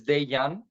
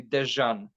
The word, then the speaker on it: Dejan: where I'm coming from the letter J it's pronounced yeah and my name is daiyan but people every very very volunteer USA UK Canada Australia everywhere they call me dejan so you were closer